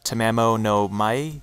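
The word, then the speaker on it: Tamamo no Mae: Tamamo no Mai, is it? Tamamo no, yeah, Mai. I think, yeah, it is like Mai, like the way you would pronounce that.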